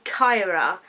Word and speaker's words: Kaira: So then we have Emilee's older sister, Kyra. Kind of I think it's the capital of Egypt. I think that's Cairo. But her name is spelled Kaira, which I'll put on the screen for you so you don't get confused.